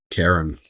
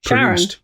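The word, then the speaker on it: Charon: Karen. Or Sharon. Okay, yeah, I think it was. I'm sure it was pronounced Sharon.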